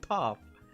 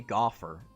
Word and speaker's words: Toph: I mean Aang with Katara or Aang with Toph? Or Topher and Gopher pronounced the same. Toph. No, that would be Gopher.